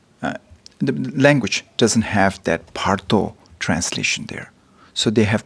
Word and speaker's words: bardo: But you're pronouncing it? Parto. Pardo.